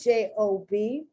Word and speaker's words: Job: The second J-O-B is a thing. It's the name of a thing. Okay, so let's pronounce it. J-O-B, long Job.